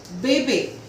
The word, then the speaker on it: bébé: with the trema mark, E with the circumflex mark will have the sound of A. For example, bébé, bébé, école, école, Noël, Noël, château, château.